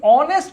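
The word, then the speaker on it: honest: এই অনেস্ট কথাটা যখন বলতে যাবা তখন আসে অনেস্ট। কি আসে? অনেস্ট। শুরুতে দেখতে পাচ্ছ সরে। আর সরে হচ্ছে সরবর্ণ। যখন উচ্চারণের প্রথমে সরবর্ণ আসবে তখন তোমাকে অবশ্যই এখানে এন বসাইতে হইবে।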